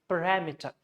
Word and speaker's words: parameter: E-T-E-R, it would convert into schwa. That means you have to leave out. So the actual way is parameter.